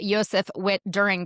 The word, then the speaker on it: Josef Witt-Doerring: Yseph Wit During. Did I pronounce it correctly?